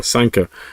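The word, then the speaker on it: Sanquhar: scotland in the borders a spell s-e-n q-u-h-a-r so quite quite a strange name you know sanka you say it like sanka so injustice at san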